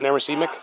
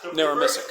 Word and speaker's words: Narramissic: Yeah, 5 or 10 was How do you pronounce it? NARRAMISSIC? NARRAMISSIC.